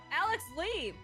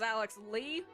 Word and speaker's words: Alex Lee: name this whole time I thought it was Alex Le I don't know why I didn't pronounce it as Alex Lee but that guy's crazy